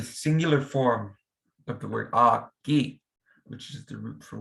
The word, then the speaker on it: Okii: You're not saying Okii, you're just meshing the E sounds together to just get Okii, Okii.